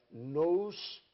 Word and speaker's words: nous: Nous, ergon, logia, a etimologia da palavra. Nous, se pronuncia nous, pensamento, estudo do pensamento ativo e criador.